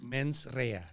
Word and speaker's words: mens rea: Pronounce it one more time. Mens rea. Mens rea, which you said means bad intent.